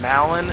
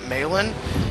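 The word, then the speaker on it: Malon: to be Talon so I assume they named her Malin because it rhymes with Talon you know kind of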